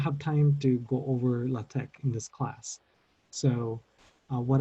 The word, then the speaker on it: LaTeX: typesetting software called latech I smell like latex I think it's pronounced latech if you already know